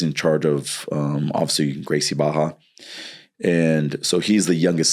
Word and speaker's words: Gracie Barra: It's uh has an R but it starts with a H or pronounces like an H. Yeah. So Gracie Baja is uh the biggest juju school in the world.